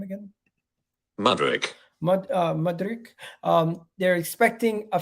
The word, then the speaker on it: Mudryk: pronounce his name again uh how do you pronounce his name again madrik madrik um they're expecting a figure around 30